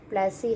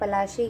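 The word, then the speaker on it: Plassey: से ये battle of प्लासी है, जिसे हम पलाशी कहते हैं, पलाशी जगह है, लेकिन वो प्रोनाउंसिएशन में धीरे धीरे टाइमली चेंज होने के साथ साथ वो बैटल ऑफ प्लासी हो गया।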